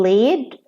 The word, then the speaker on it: lead: One pronunciation when the verb is present, and the other pronunciation when the verb is past, like lead and it has one pronunciation, lead, and here the noun is led.